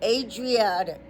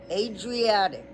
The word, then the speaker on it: Adriatic: Long a so it's making a long a and then dr and then a long e and then attic. So, it's Adriatic. That's how you pronounce it. Adriatic.